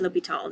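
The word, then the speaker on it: L'Hôpital: hospital but it's pronounced l'hopital the s is silent so you may see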